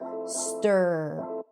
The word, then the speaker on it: stir: Even though it's spelled with an I, you don't hear e. It's stir.